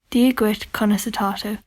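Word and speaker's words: Dia duit: because I live here this is how you say Hi how are you di Kat this is how you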